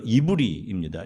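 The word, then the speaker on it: עברי: 자, 앞에 보시면 우리말로 히브리인이라고 발음하는 이브리입니다.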